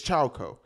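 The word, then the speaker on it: Chaokoh: coconut milk uh uh ciao co is that how you say it it's choco and then target they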